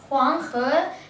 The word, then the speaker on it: Huanghe: The word how you pronounce it is Huanghe, as known as the Yellow River.